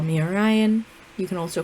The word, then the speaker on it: Orion: So I do ask that going forward y'all call me Orion.